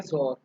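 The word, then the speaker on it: XOR: Next operator रहेगा हमारे पास जोर ऑपरेटर, इसकी प्रोनाउंसिएशन होती है जोर।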